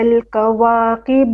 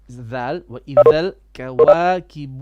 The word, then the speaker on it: الكواكب: أعوذ بالله من الشيطان الرجيم بسم الله الرحمن الرحيم إذا السماء انفطرت وإذا الكواكب انتثرت. Okay, وإذا الكواكب انتثرت. Once again. وإذا الكواكب Kaf. Not qawa. It's not qaf. It's kaf.